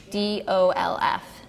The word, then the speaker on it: Oudolf: Udolph, it's Oudolf, and his first name is Piet, so I don't know if I'm pronouncing it right, but I say Pete.